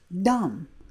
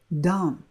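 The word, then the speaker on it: דָּם: Again, we have this red, and it's pronounced dam, dam.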